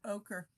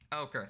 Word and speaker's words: ochre: a yellowish orange kind of color so it's pronounced ochre ochre thank you ochre welcome a closer look reveals the story etched